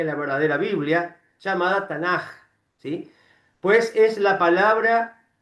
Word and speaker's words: Tanaj: Y los ketubin, porque Tanaj se escribe con la K y la H, que se pronuncia como una J, pero en realidad es con K.